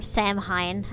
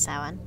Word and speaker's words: Samhain: or Samhain, as it looks like it's set, like, pronounced, but that's not actually how you say it, it's Samhain.